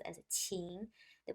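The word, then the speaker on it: 请: means to invite and the pronunciation is chin the third tone of the character so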